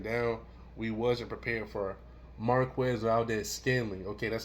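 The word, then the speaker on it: Marquez Valdes-Scantling: And then you see right here, even though we shut this man down, we wasn't prepared for Marquez Valdez Scanley.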